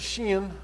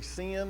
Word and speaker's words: shin: the next one is shin or you can you can pronounce it with an S or an sh so it can be sin or Shin it represents the number